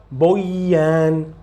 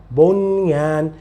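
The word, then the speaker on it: بنيان: Não diga boyan, bunyan.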